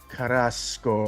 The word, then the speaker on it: Carrasco: So please welcome Dara and Khara Carrasco. Yeah. Yeah, that's a good pronunciation. You rolled those R's, buddy.